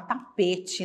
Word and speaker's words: tapete: atenção na palavra tapete a gente fala tapete né mas termina com a letra E nós pronunciamos a nossa região fala muito tapete mas Lembrando que a letra final é a letra e ela tem duas